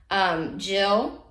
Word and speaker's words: Gilles: Next, we had Gilles. That is the proper way to say it, by the way. I'm proud of me for looking into that.